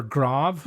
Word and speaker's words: Graves: And remember when I told you to remember grav? I remember spelled like graves.